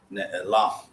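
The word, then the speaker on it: נעלם: Ne'elam. But because we have two seagulls, we have to move it back one syllable. So now it becomes ne-e-lam.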